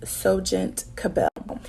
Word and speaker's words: SohGent CA’Belle: um and what it means so the correct pronunciation is soent cabel and so the way that soent cabel was